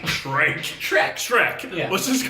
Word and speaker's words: Shrike: You pronounce that word for me. Shrike. Shrike.